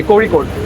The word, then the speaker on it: Kozhikode: Yeah, we go tomorrow from here Kozhikode. to Kozhikode. Okay, കോഴിക്കോട്. You pronounce it as കോഴിക്കോട്.